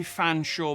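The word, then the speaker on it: Featherstonehaugh: dropped my controller uh it's pronounced Chom Ley fan Shore Marsh Banks is how you pronounce those three words I was like Chumley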